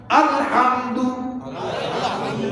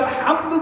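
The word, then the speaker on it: الحمد: আর আপনি আলহামদু বলেন নাই, বলছেন আলহামদু। ওই যে আমরা কয় না আলহামদু, এটার অর্থ হলো কি জানেন? সকল দুর্বলতা আল্লাহ। কনা নাউজুবিল্লাহ। খালি একটু উচ্চারণের ব্যবধান, আলহামদু আর আলহামদু।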